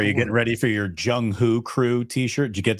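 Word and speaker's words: Jung Hoo: getting ready for your jungho crew t-shirt did you get that email the Jung who crew no what is it so who rhymes with crew I don't know if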